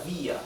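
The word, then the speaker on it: vía: strong vowel okay and since the the intonation the stress is on the letter i via therefore letter I carries the tilde again okay here we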